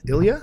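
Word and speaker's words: Ilya: I I Russian I L Y A. How would you pronounce Ilia? Ilia.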